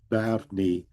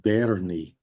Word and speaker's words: Barni: Yes, just to emphasize that Barni, my folk wisdom was we pronounced it Berni in my day incorrectly, and just wanted to highlight.